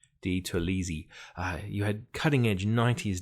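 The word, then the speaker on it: DiTerlizzi: You had this fantastic Doni Didalisi art. I think I've said that name wrong. Di Tolisi.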